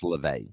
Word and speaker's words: LaVey: And that's just, when you have the head of the Satanic Church, Anton LaVey, the announcer pronounced it wrong. He said Levy, it's LaVey.